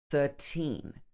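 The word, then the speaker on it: thirteen: confusing for example 13 13 normally we would stress the teen 13 and 30.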